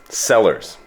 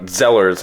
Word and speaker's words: Sellars: So anyways, Sellars, not Zellers like the store you guys had up here in Canada.